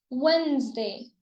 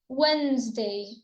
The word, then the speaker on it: Wednesday: So we pronounce it as Wednesday. Wednesday. Wednesday. So the first D is silent.